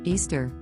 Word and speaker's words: Ishtar: but at its roots Easter which is how you pronounce Ishtar is all about celebrating